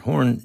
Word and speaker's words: Horne: And they said Horse instead of Horn.